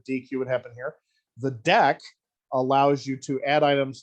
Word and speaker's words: deque: the regular queue so we pronounce this deck like a deck of cards but it's not necessarily